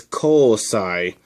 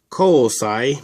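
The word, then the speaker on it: 虹彩: The first symbol in iris is rainbow, and it's pronounced ko. By itself, it's pronounced niji, though. Okay, this is pronounced ko. By itself, it means niji. The second, rainbow. And the second letter is sai. I'm not sure what this one means, I just know how to pronounce it. Kousai means iris.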